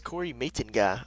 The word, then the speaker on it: Matenga: Mate Ga. Matenga? No. It's Corey Matenga.